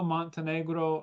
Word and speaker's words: Montenegro: Um, very honored to have with me Montenegro like the country.